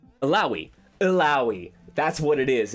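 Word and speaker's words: Illaoi: played ELO Elio how the hell do you pronounce her name elaoi Eli that's what it is isn't it it's elaoi all right yes thank you Joe so I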